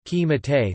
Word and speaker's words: קִמַּטְתְּ: For example, the first shva in the word qimitate u fem, crumpled, is pronounced e, qimitate, though historically it was silent, whereas the shva in zeman time, which was pronounced historically, is usually silent z-man.